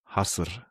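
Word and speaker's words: Hasir: And by the way, it's not called Hier, it's called Hasser.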